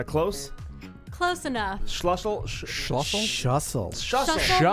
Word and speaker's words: Schlussel: Shussle like Shussle. hustle or muscle.